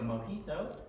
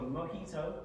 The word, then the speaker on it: mojito: cubans made it a mojito and it's called a mojito uh as a j instead because in spanish they pronounce the j's in an h instead so it's a mojito um this is the